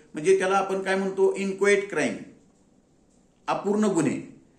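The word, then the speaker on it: inchoate: इन्क्वायट चा अर्थ काय आय एन सी एच ओ ए T spelling आहे त्याचं इन्क्चुअट आहे स्पेलिंग पण उच्चार त्याचा इन्क्वायट क्राईम आहे म्हणजे अपूर्ण गुन्हे अपूर्ण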